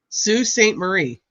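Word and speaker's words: Sault Ste. Marie: Are you people telling me that it's spelled salt and it's pronounced Sue?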